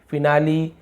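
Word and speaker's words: finale: तो आपने यहाँ पे देखा कि हमने यहाँ पे क्या किया, इसका उच्चारण, यहाँ पे ई का उच्चारण हो रहा है, फिनाली, रेसिपी और सिमिली।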